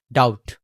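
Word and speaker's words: doubt: ডাউট ডাউট ডাউট ডাউট না ডাউট না বয়টা না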